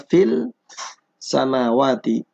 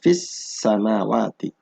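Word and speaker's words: في السماوات: Ini asalnya fil samawati. Kemudian karena bertemu dengan huruf sin di idgham, bacanya fis samawati.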